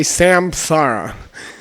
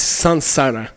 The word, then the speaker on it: samsara: you're trained at ACI you're not gonna say samsara okay in the writing it's Sam in the pronunciation it's Sun sauna like French you can speak French just talk to your nose okay so subtle so